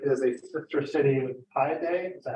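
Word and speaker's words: Paide: For those of you who don't know, Westminster is a sister city with Pi Day.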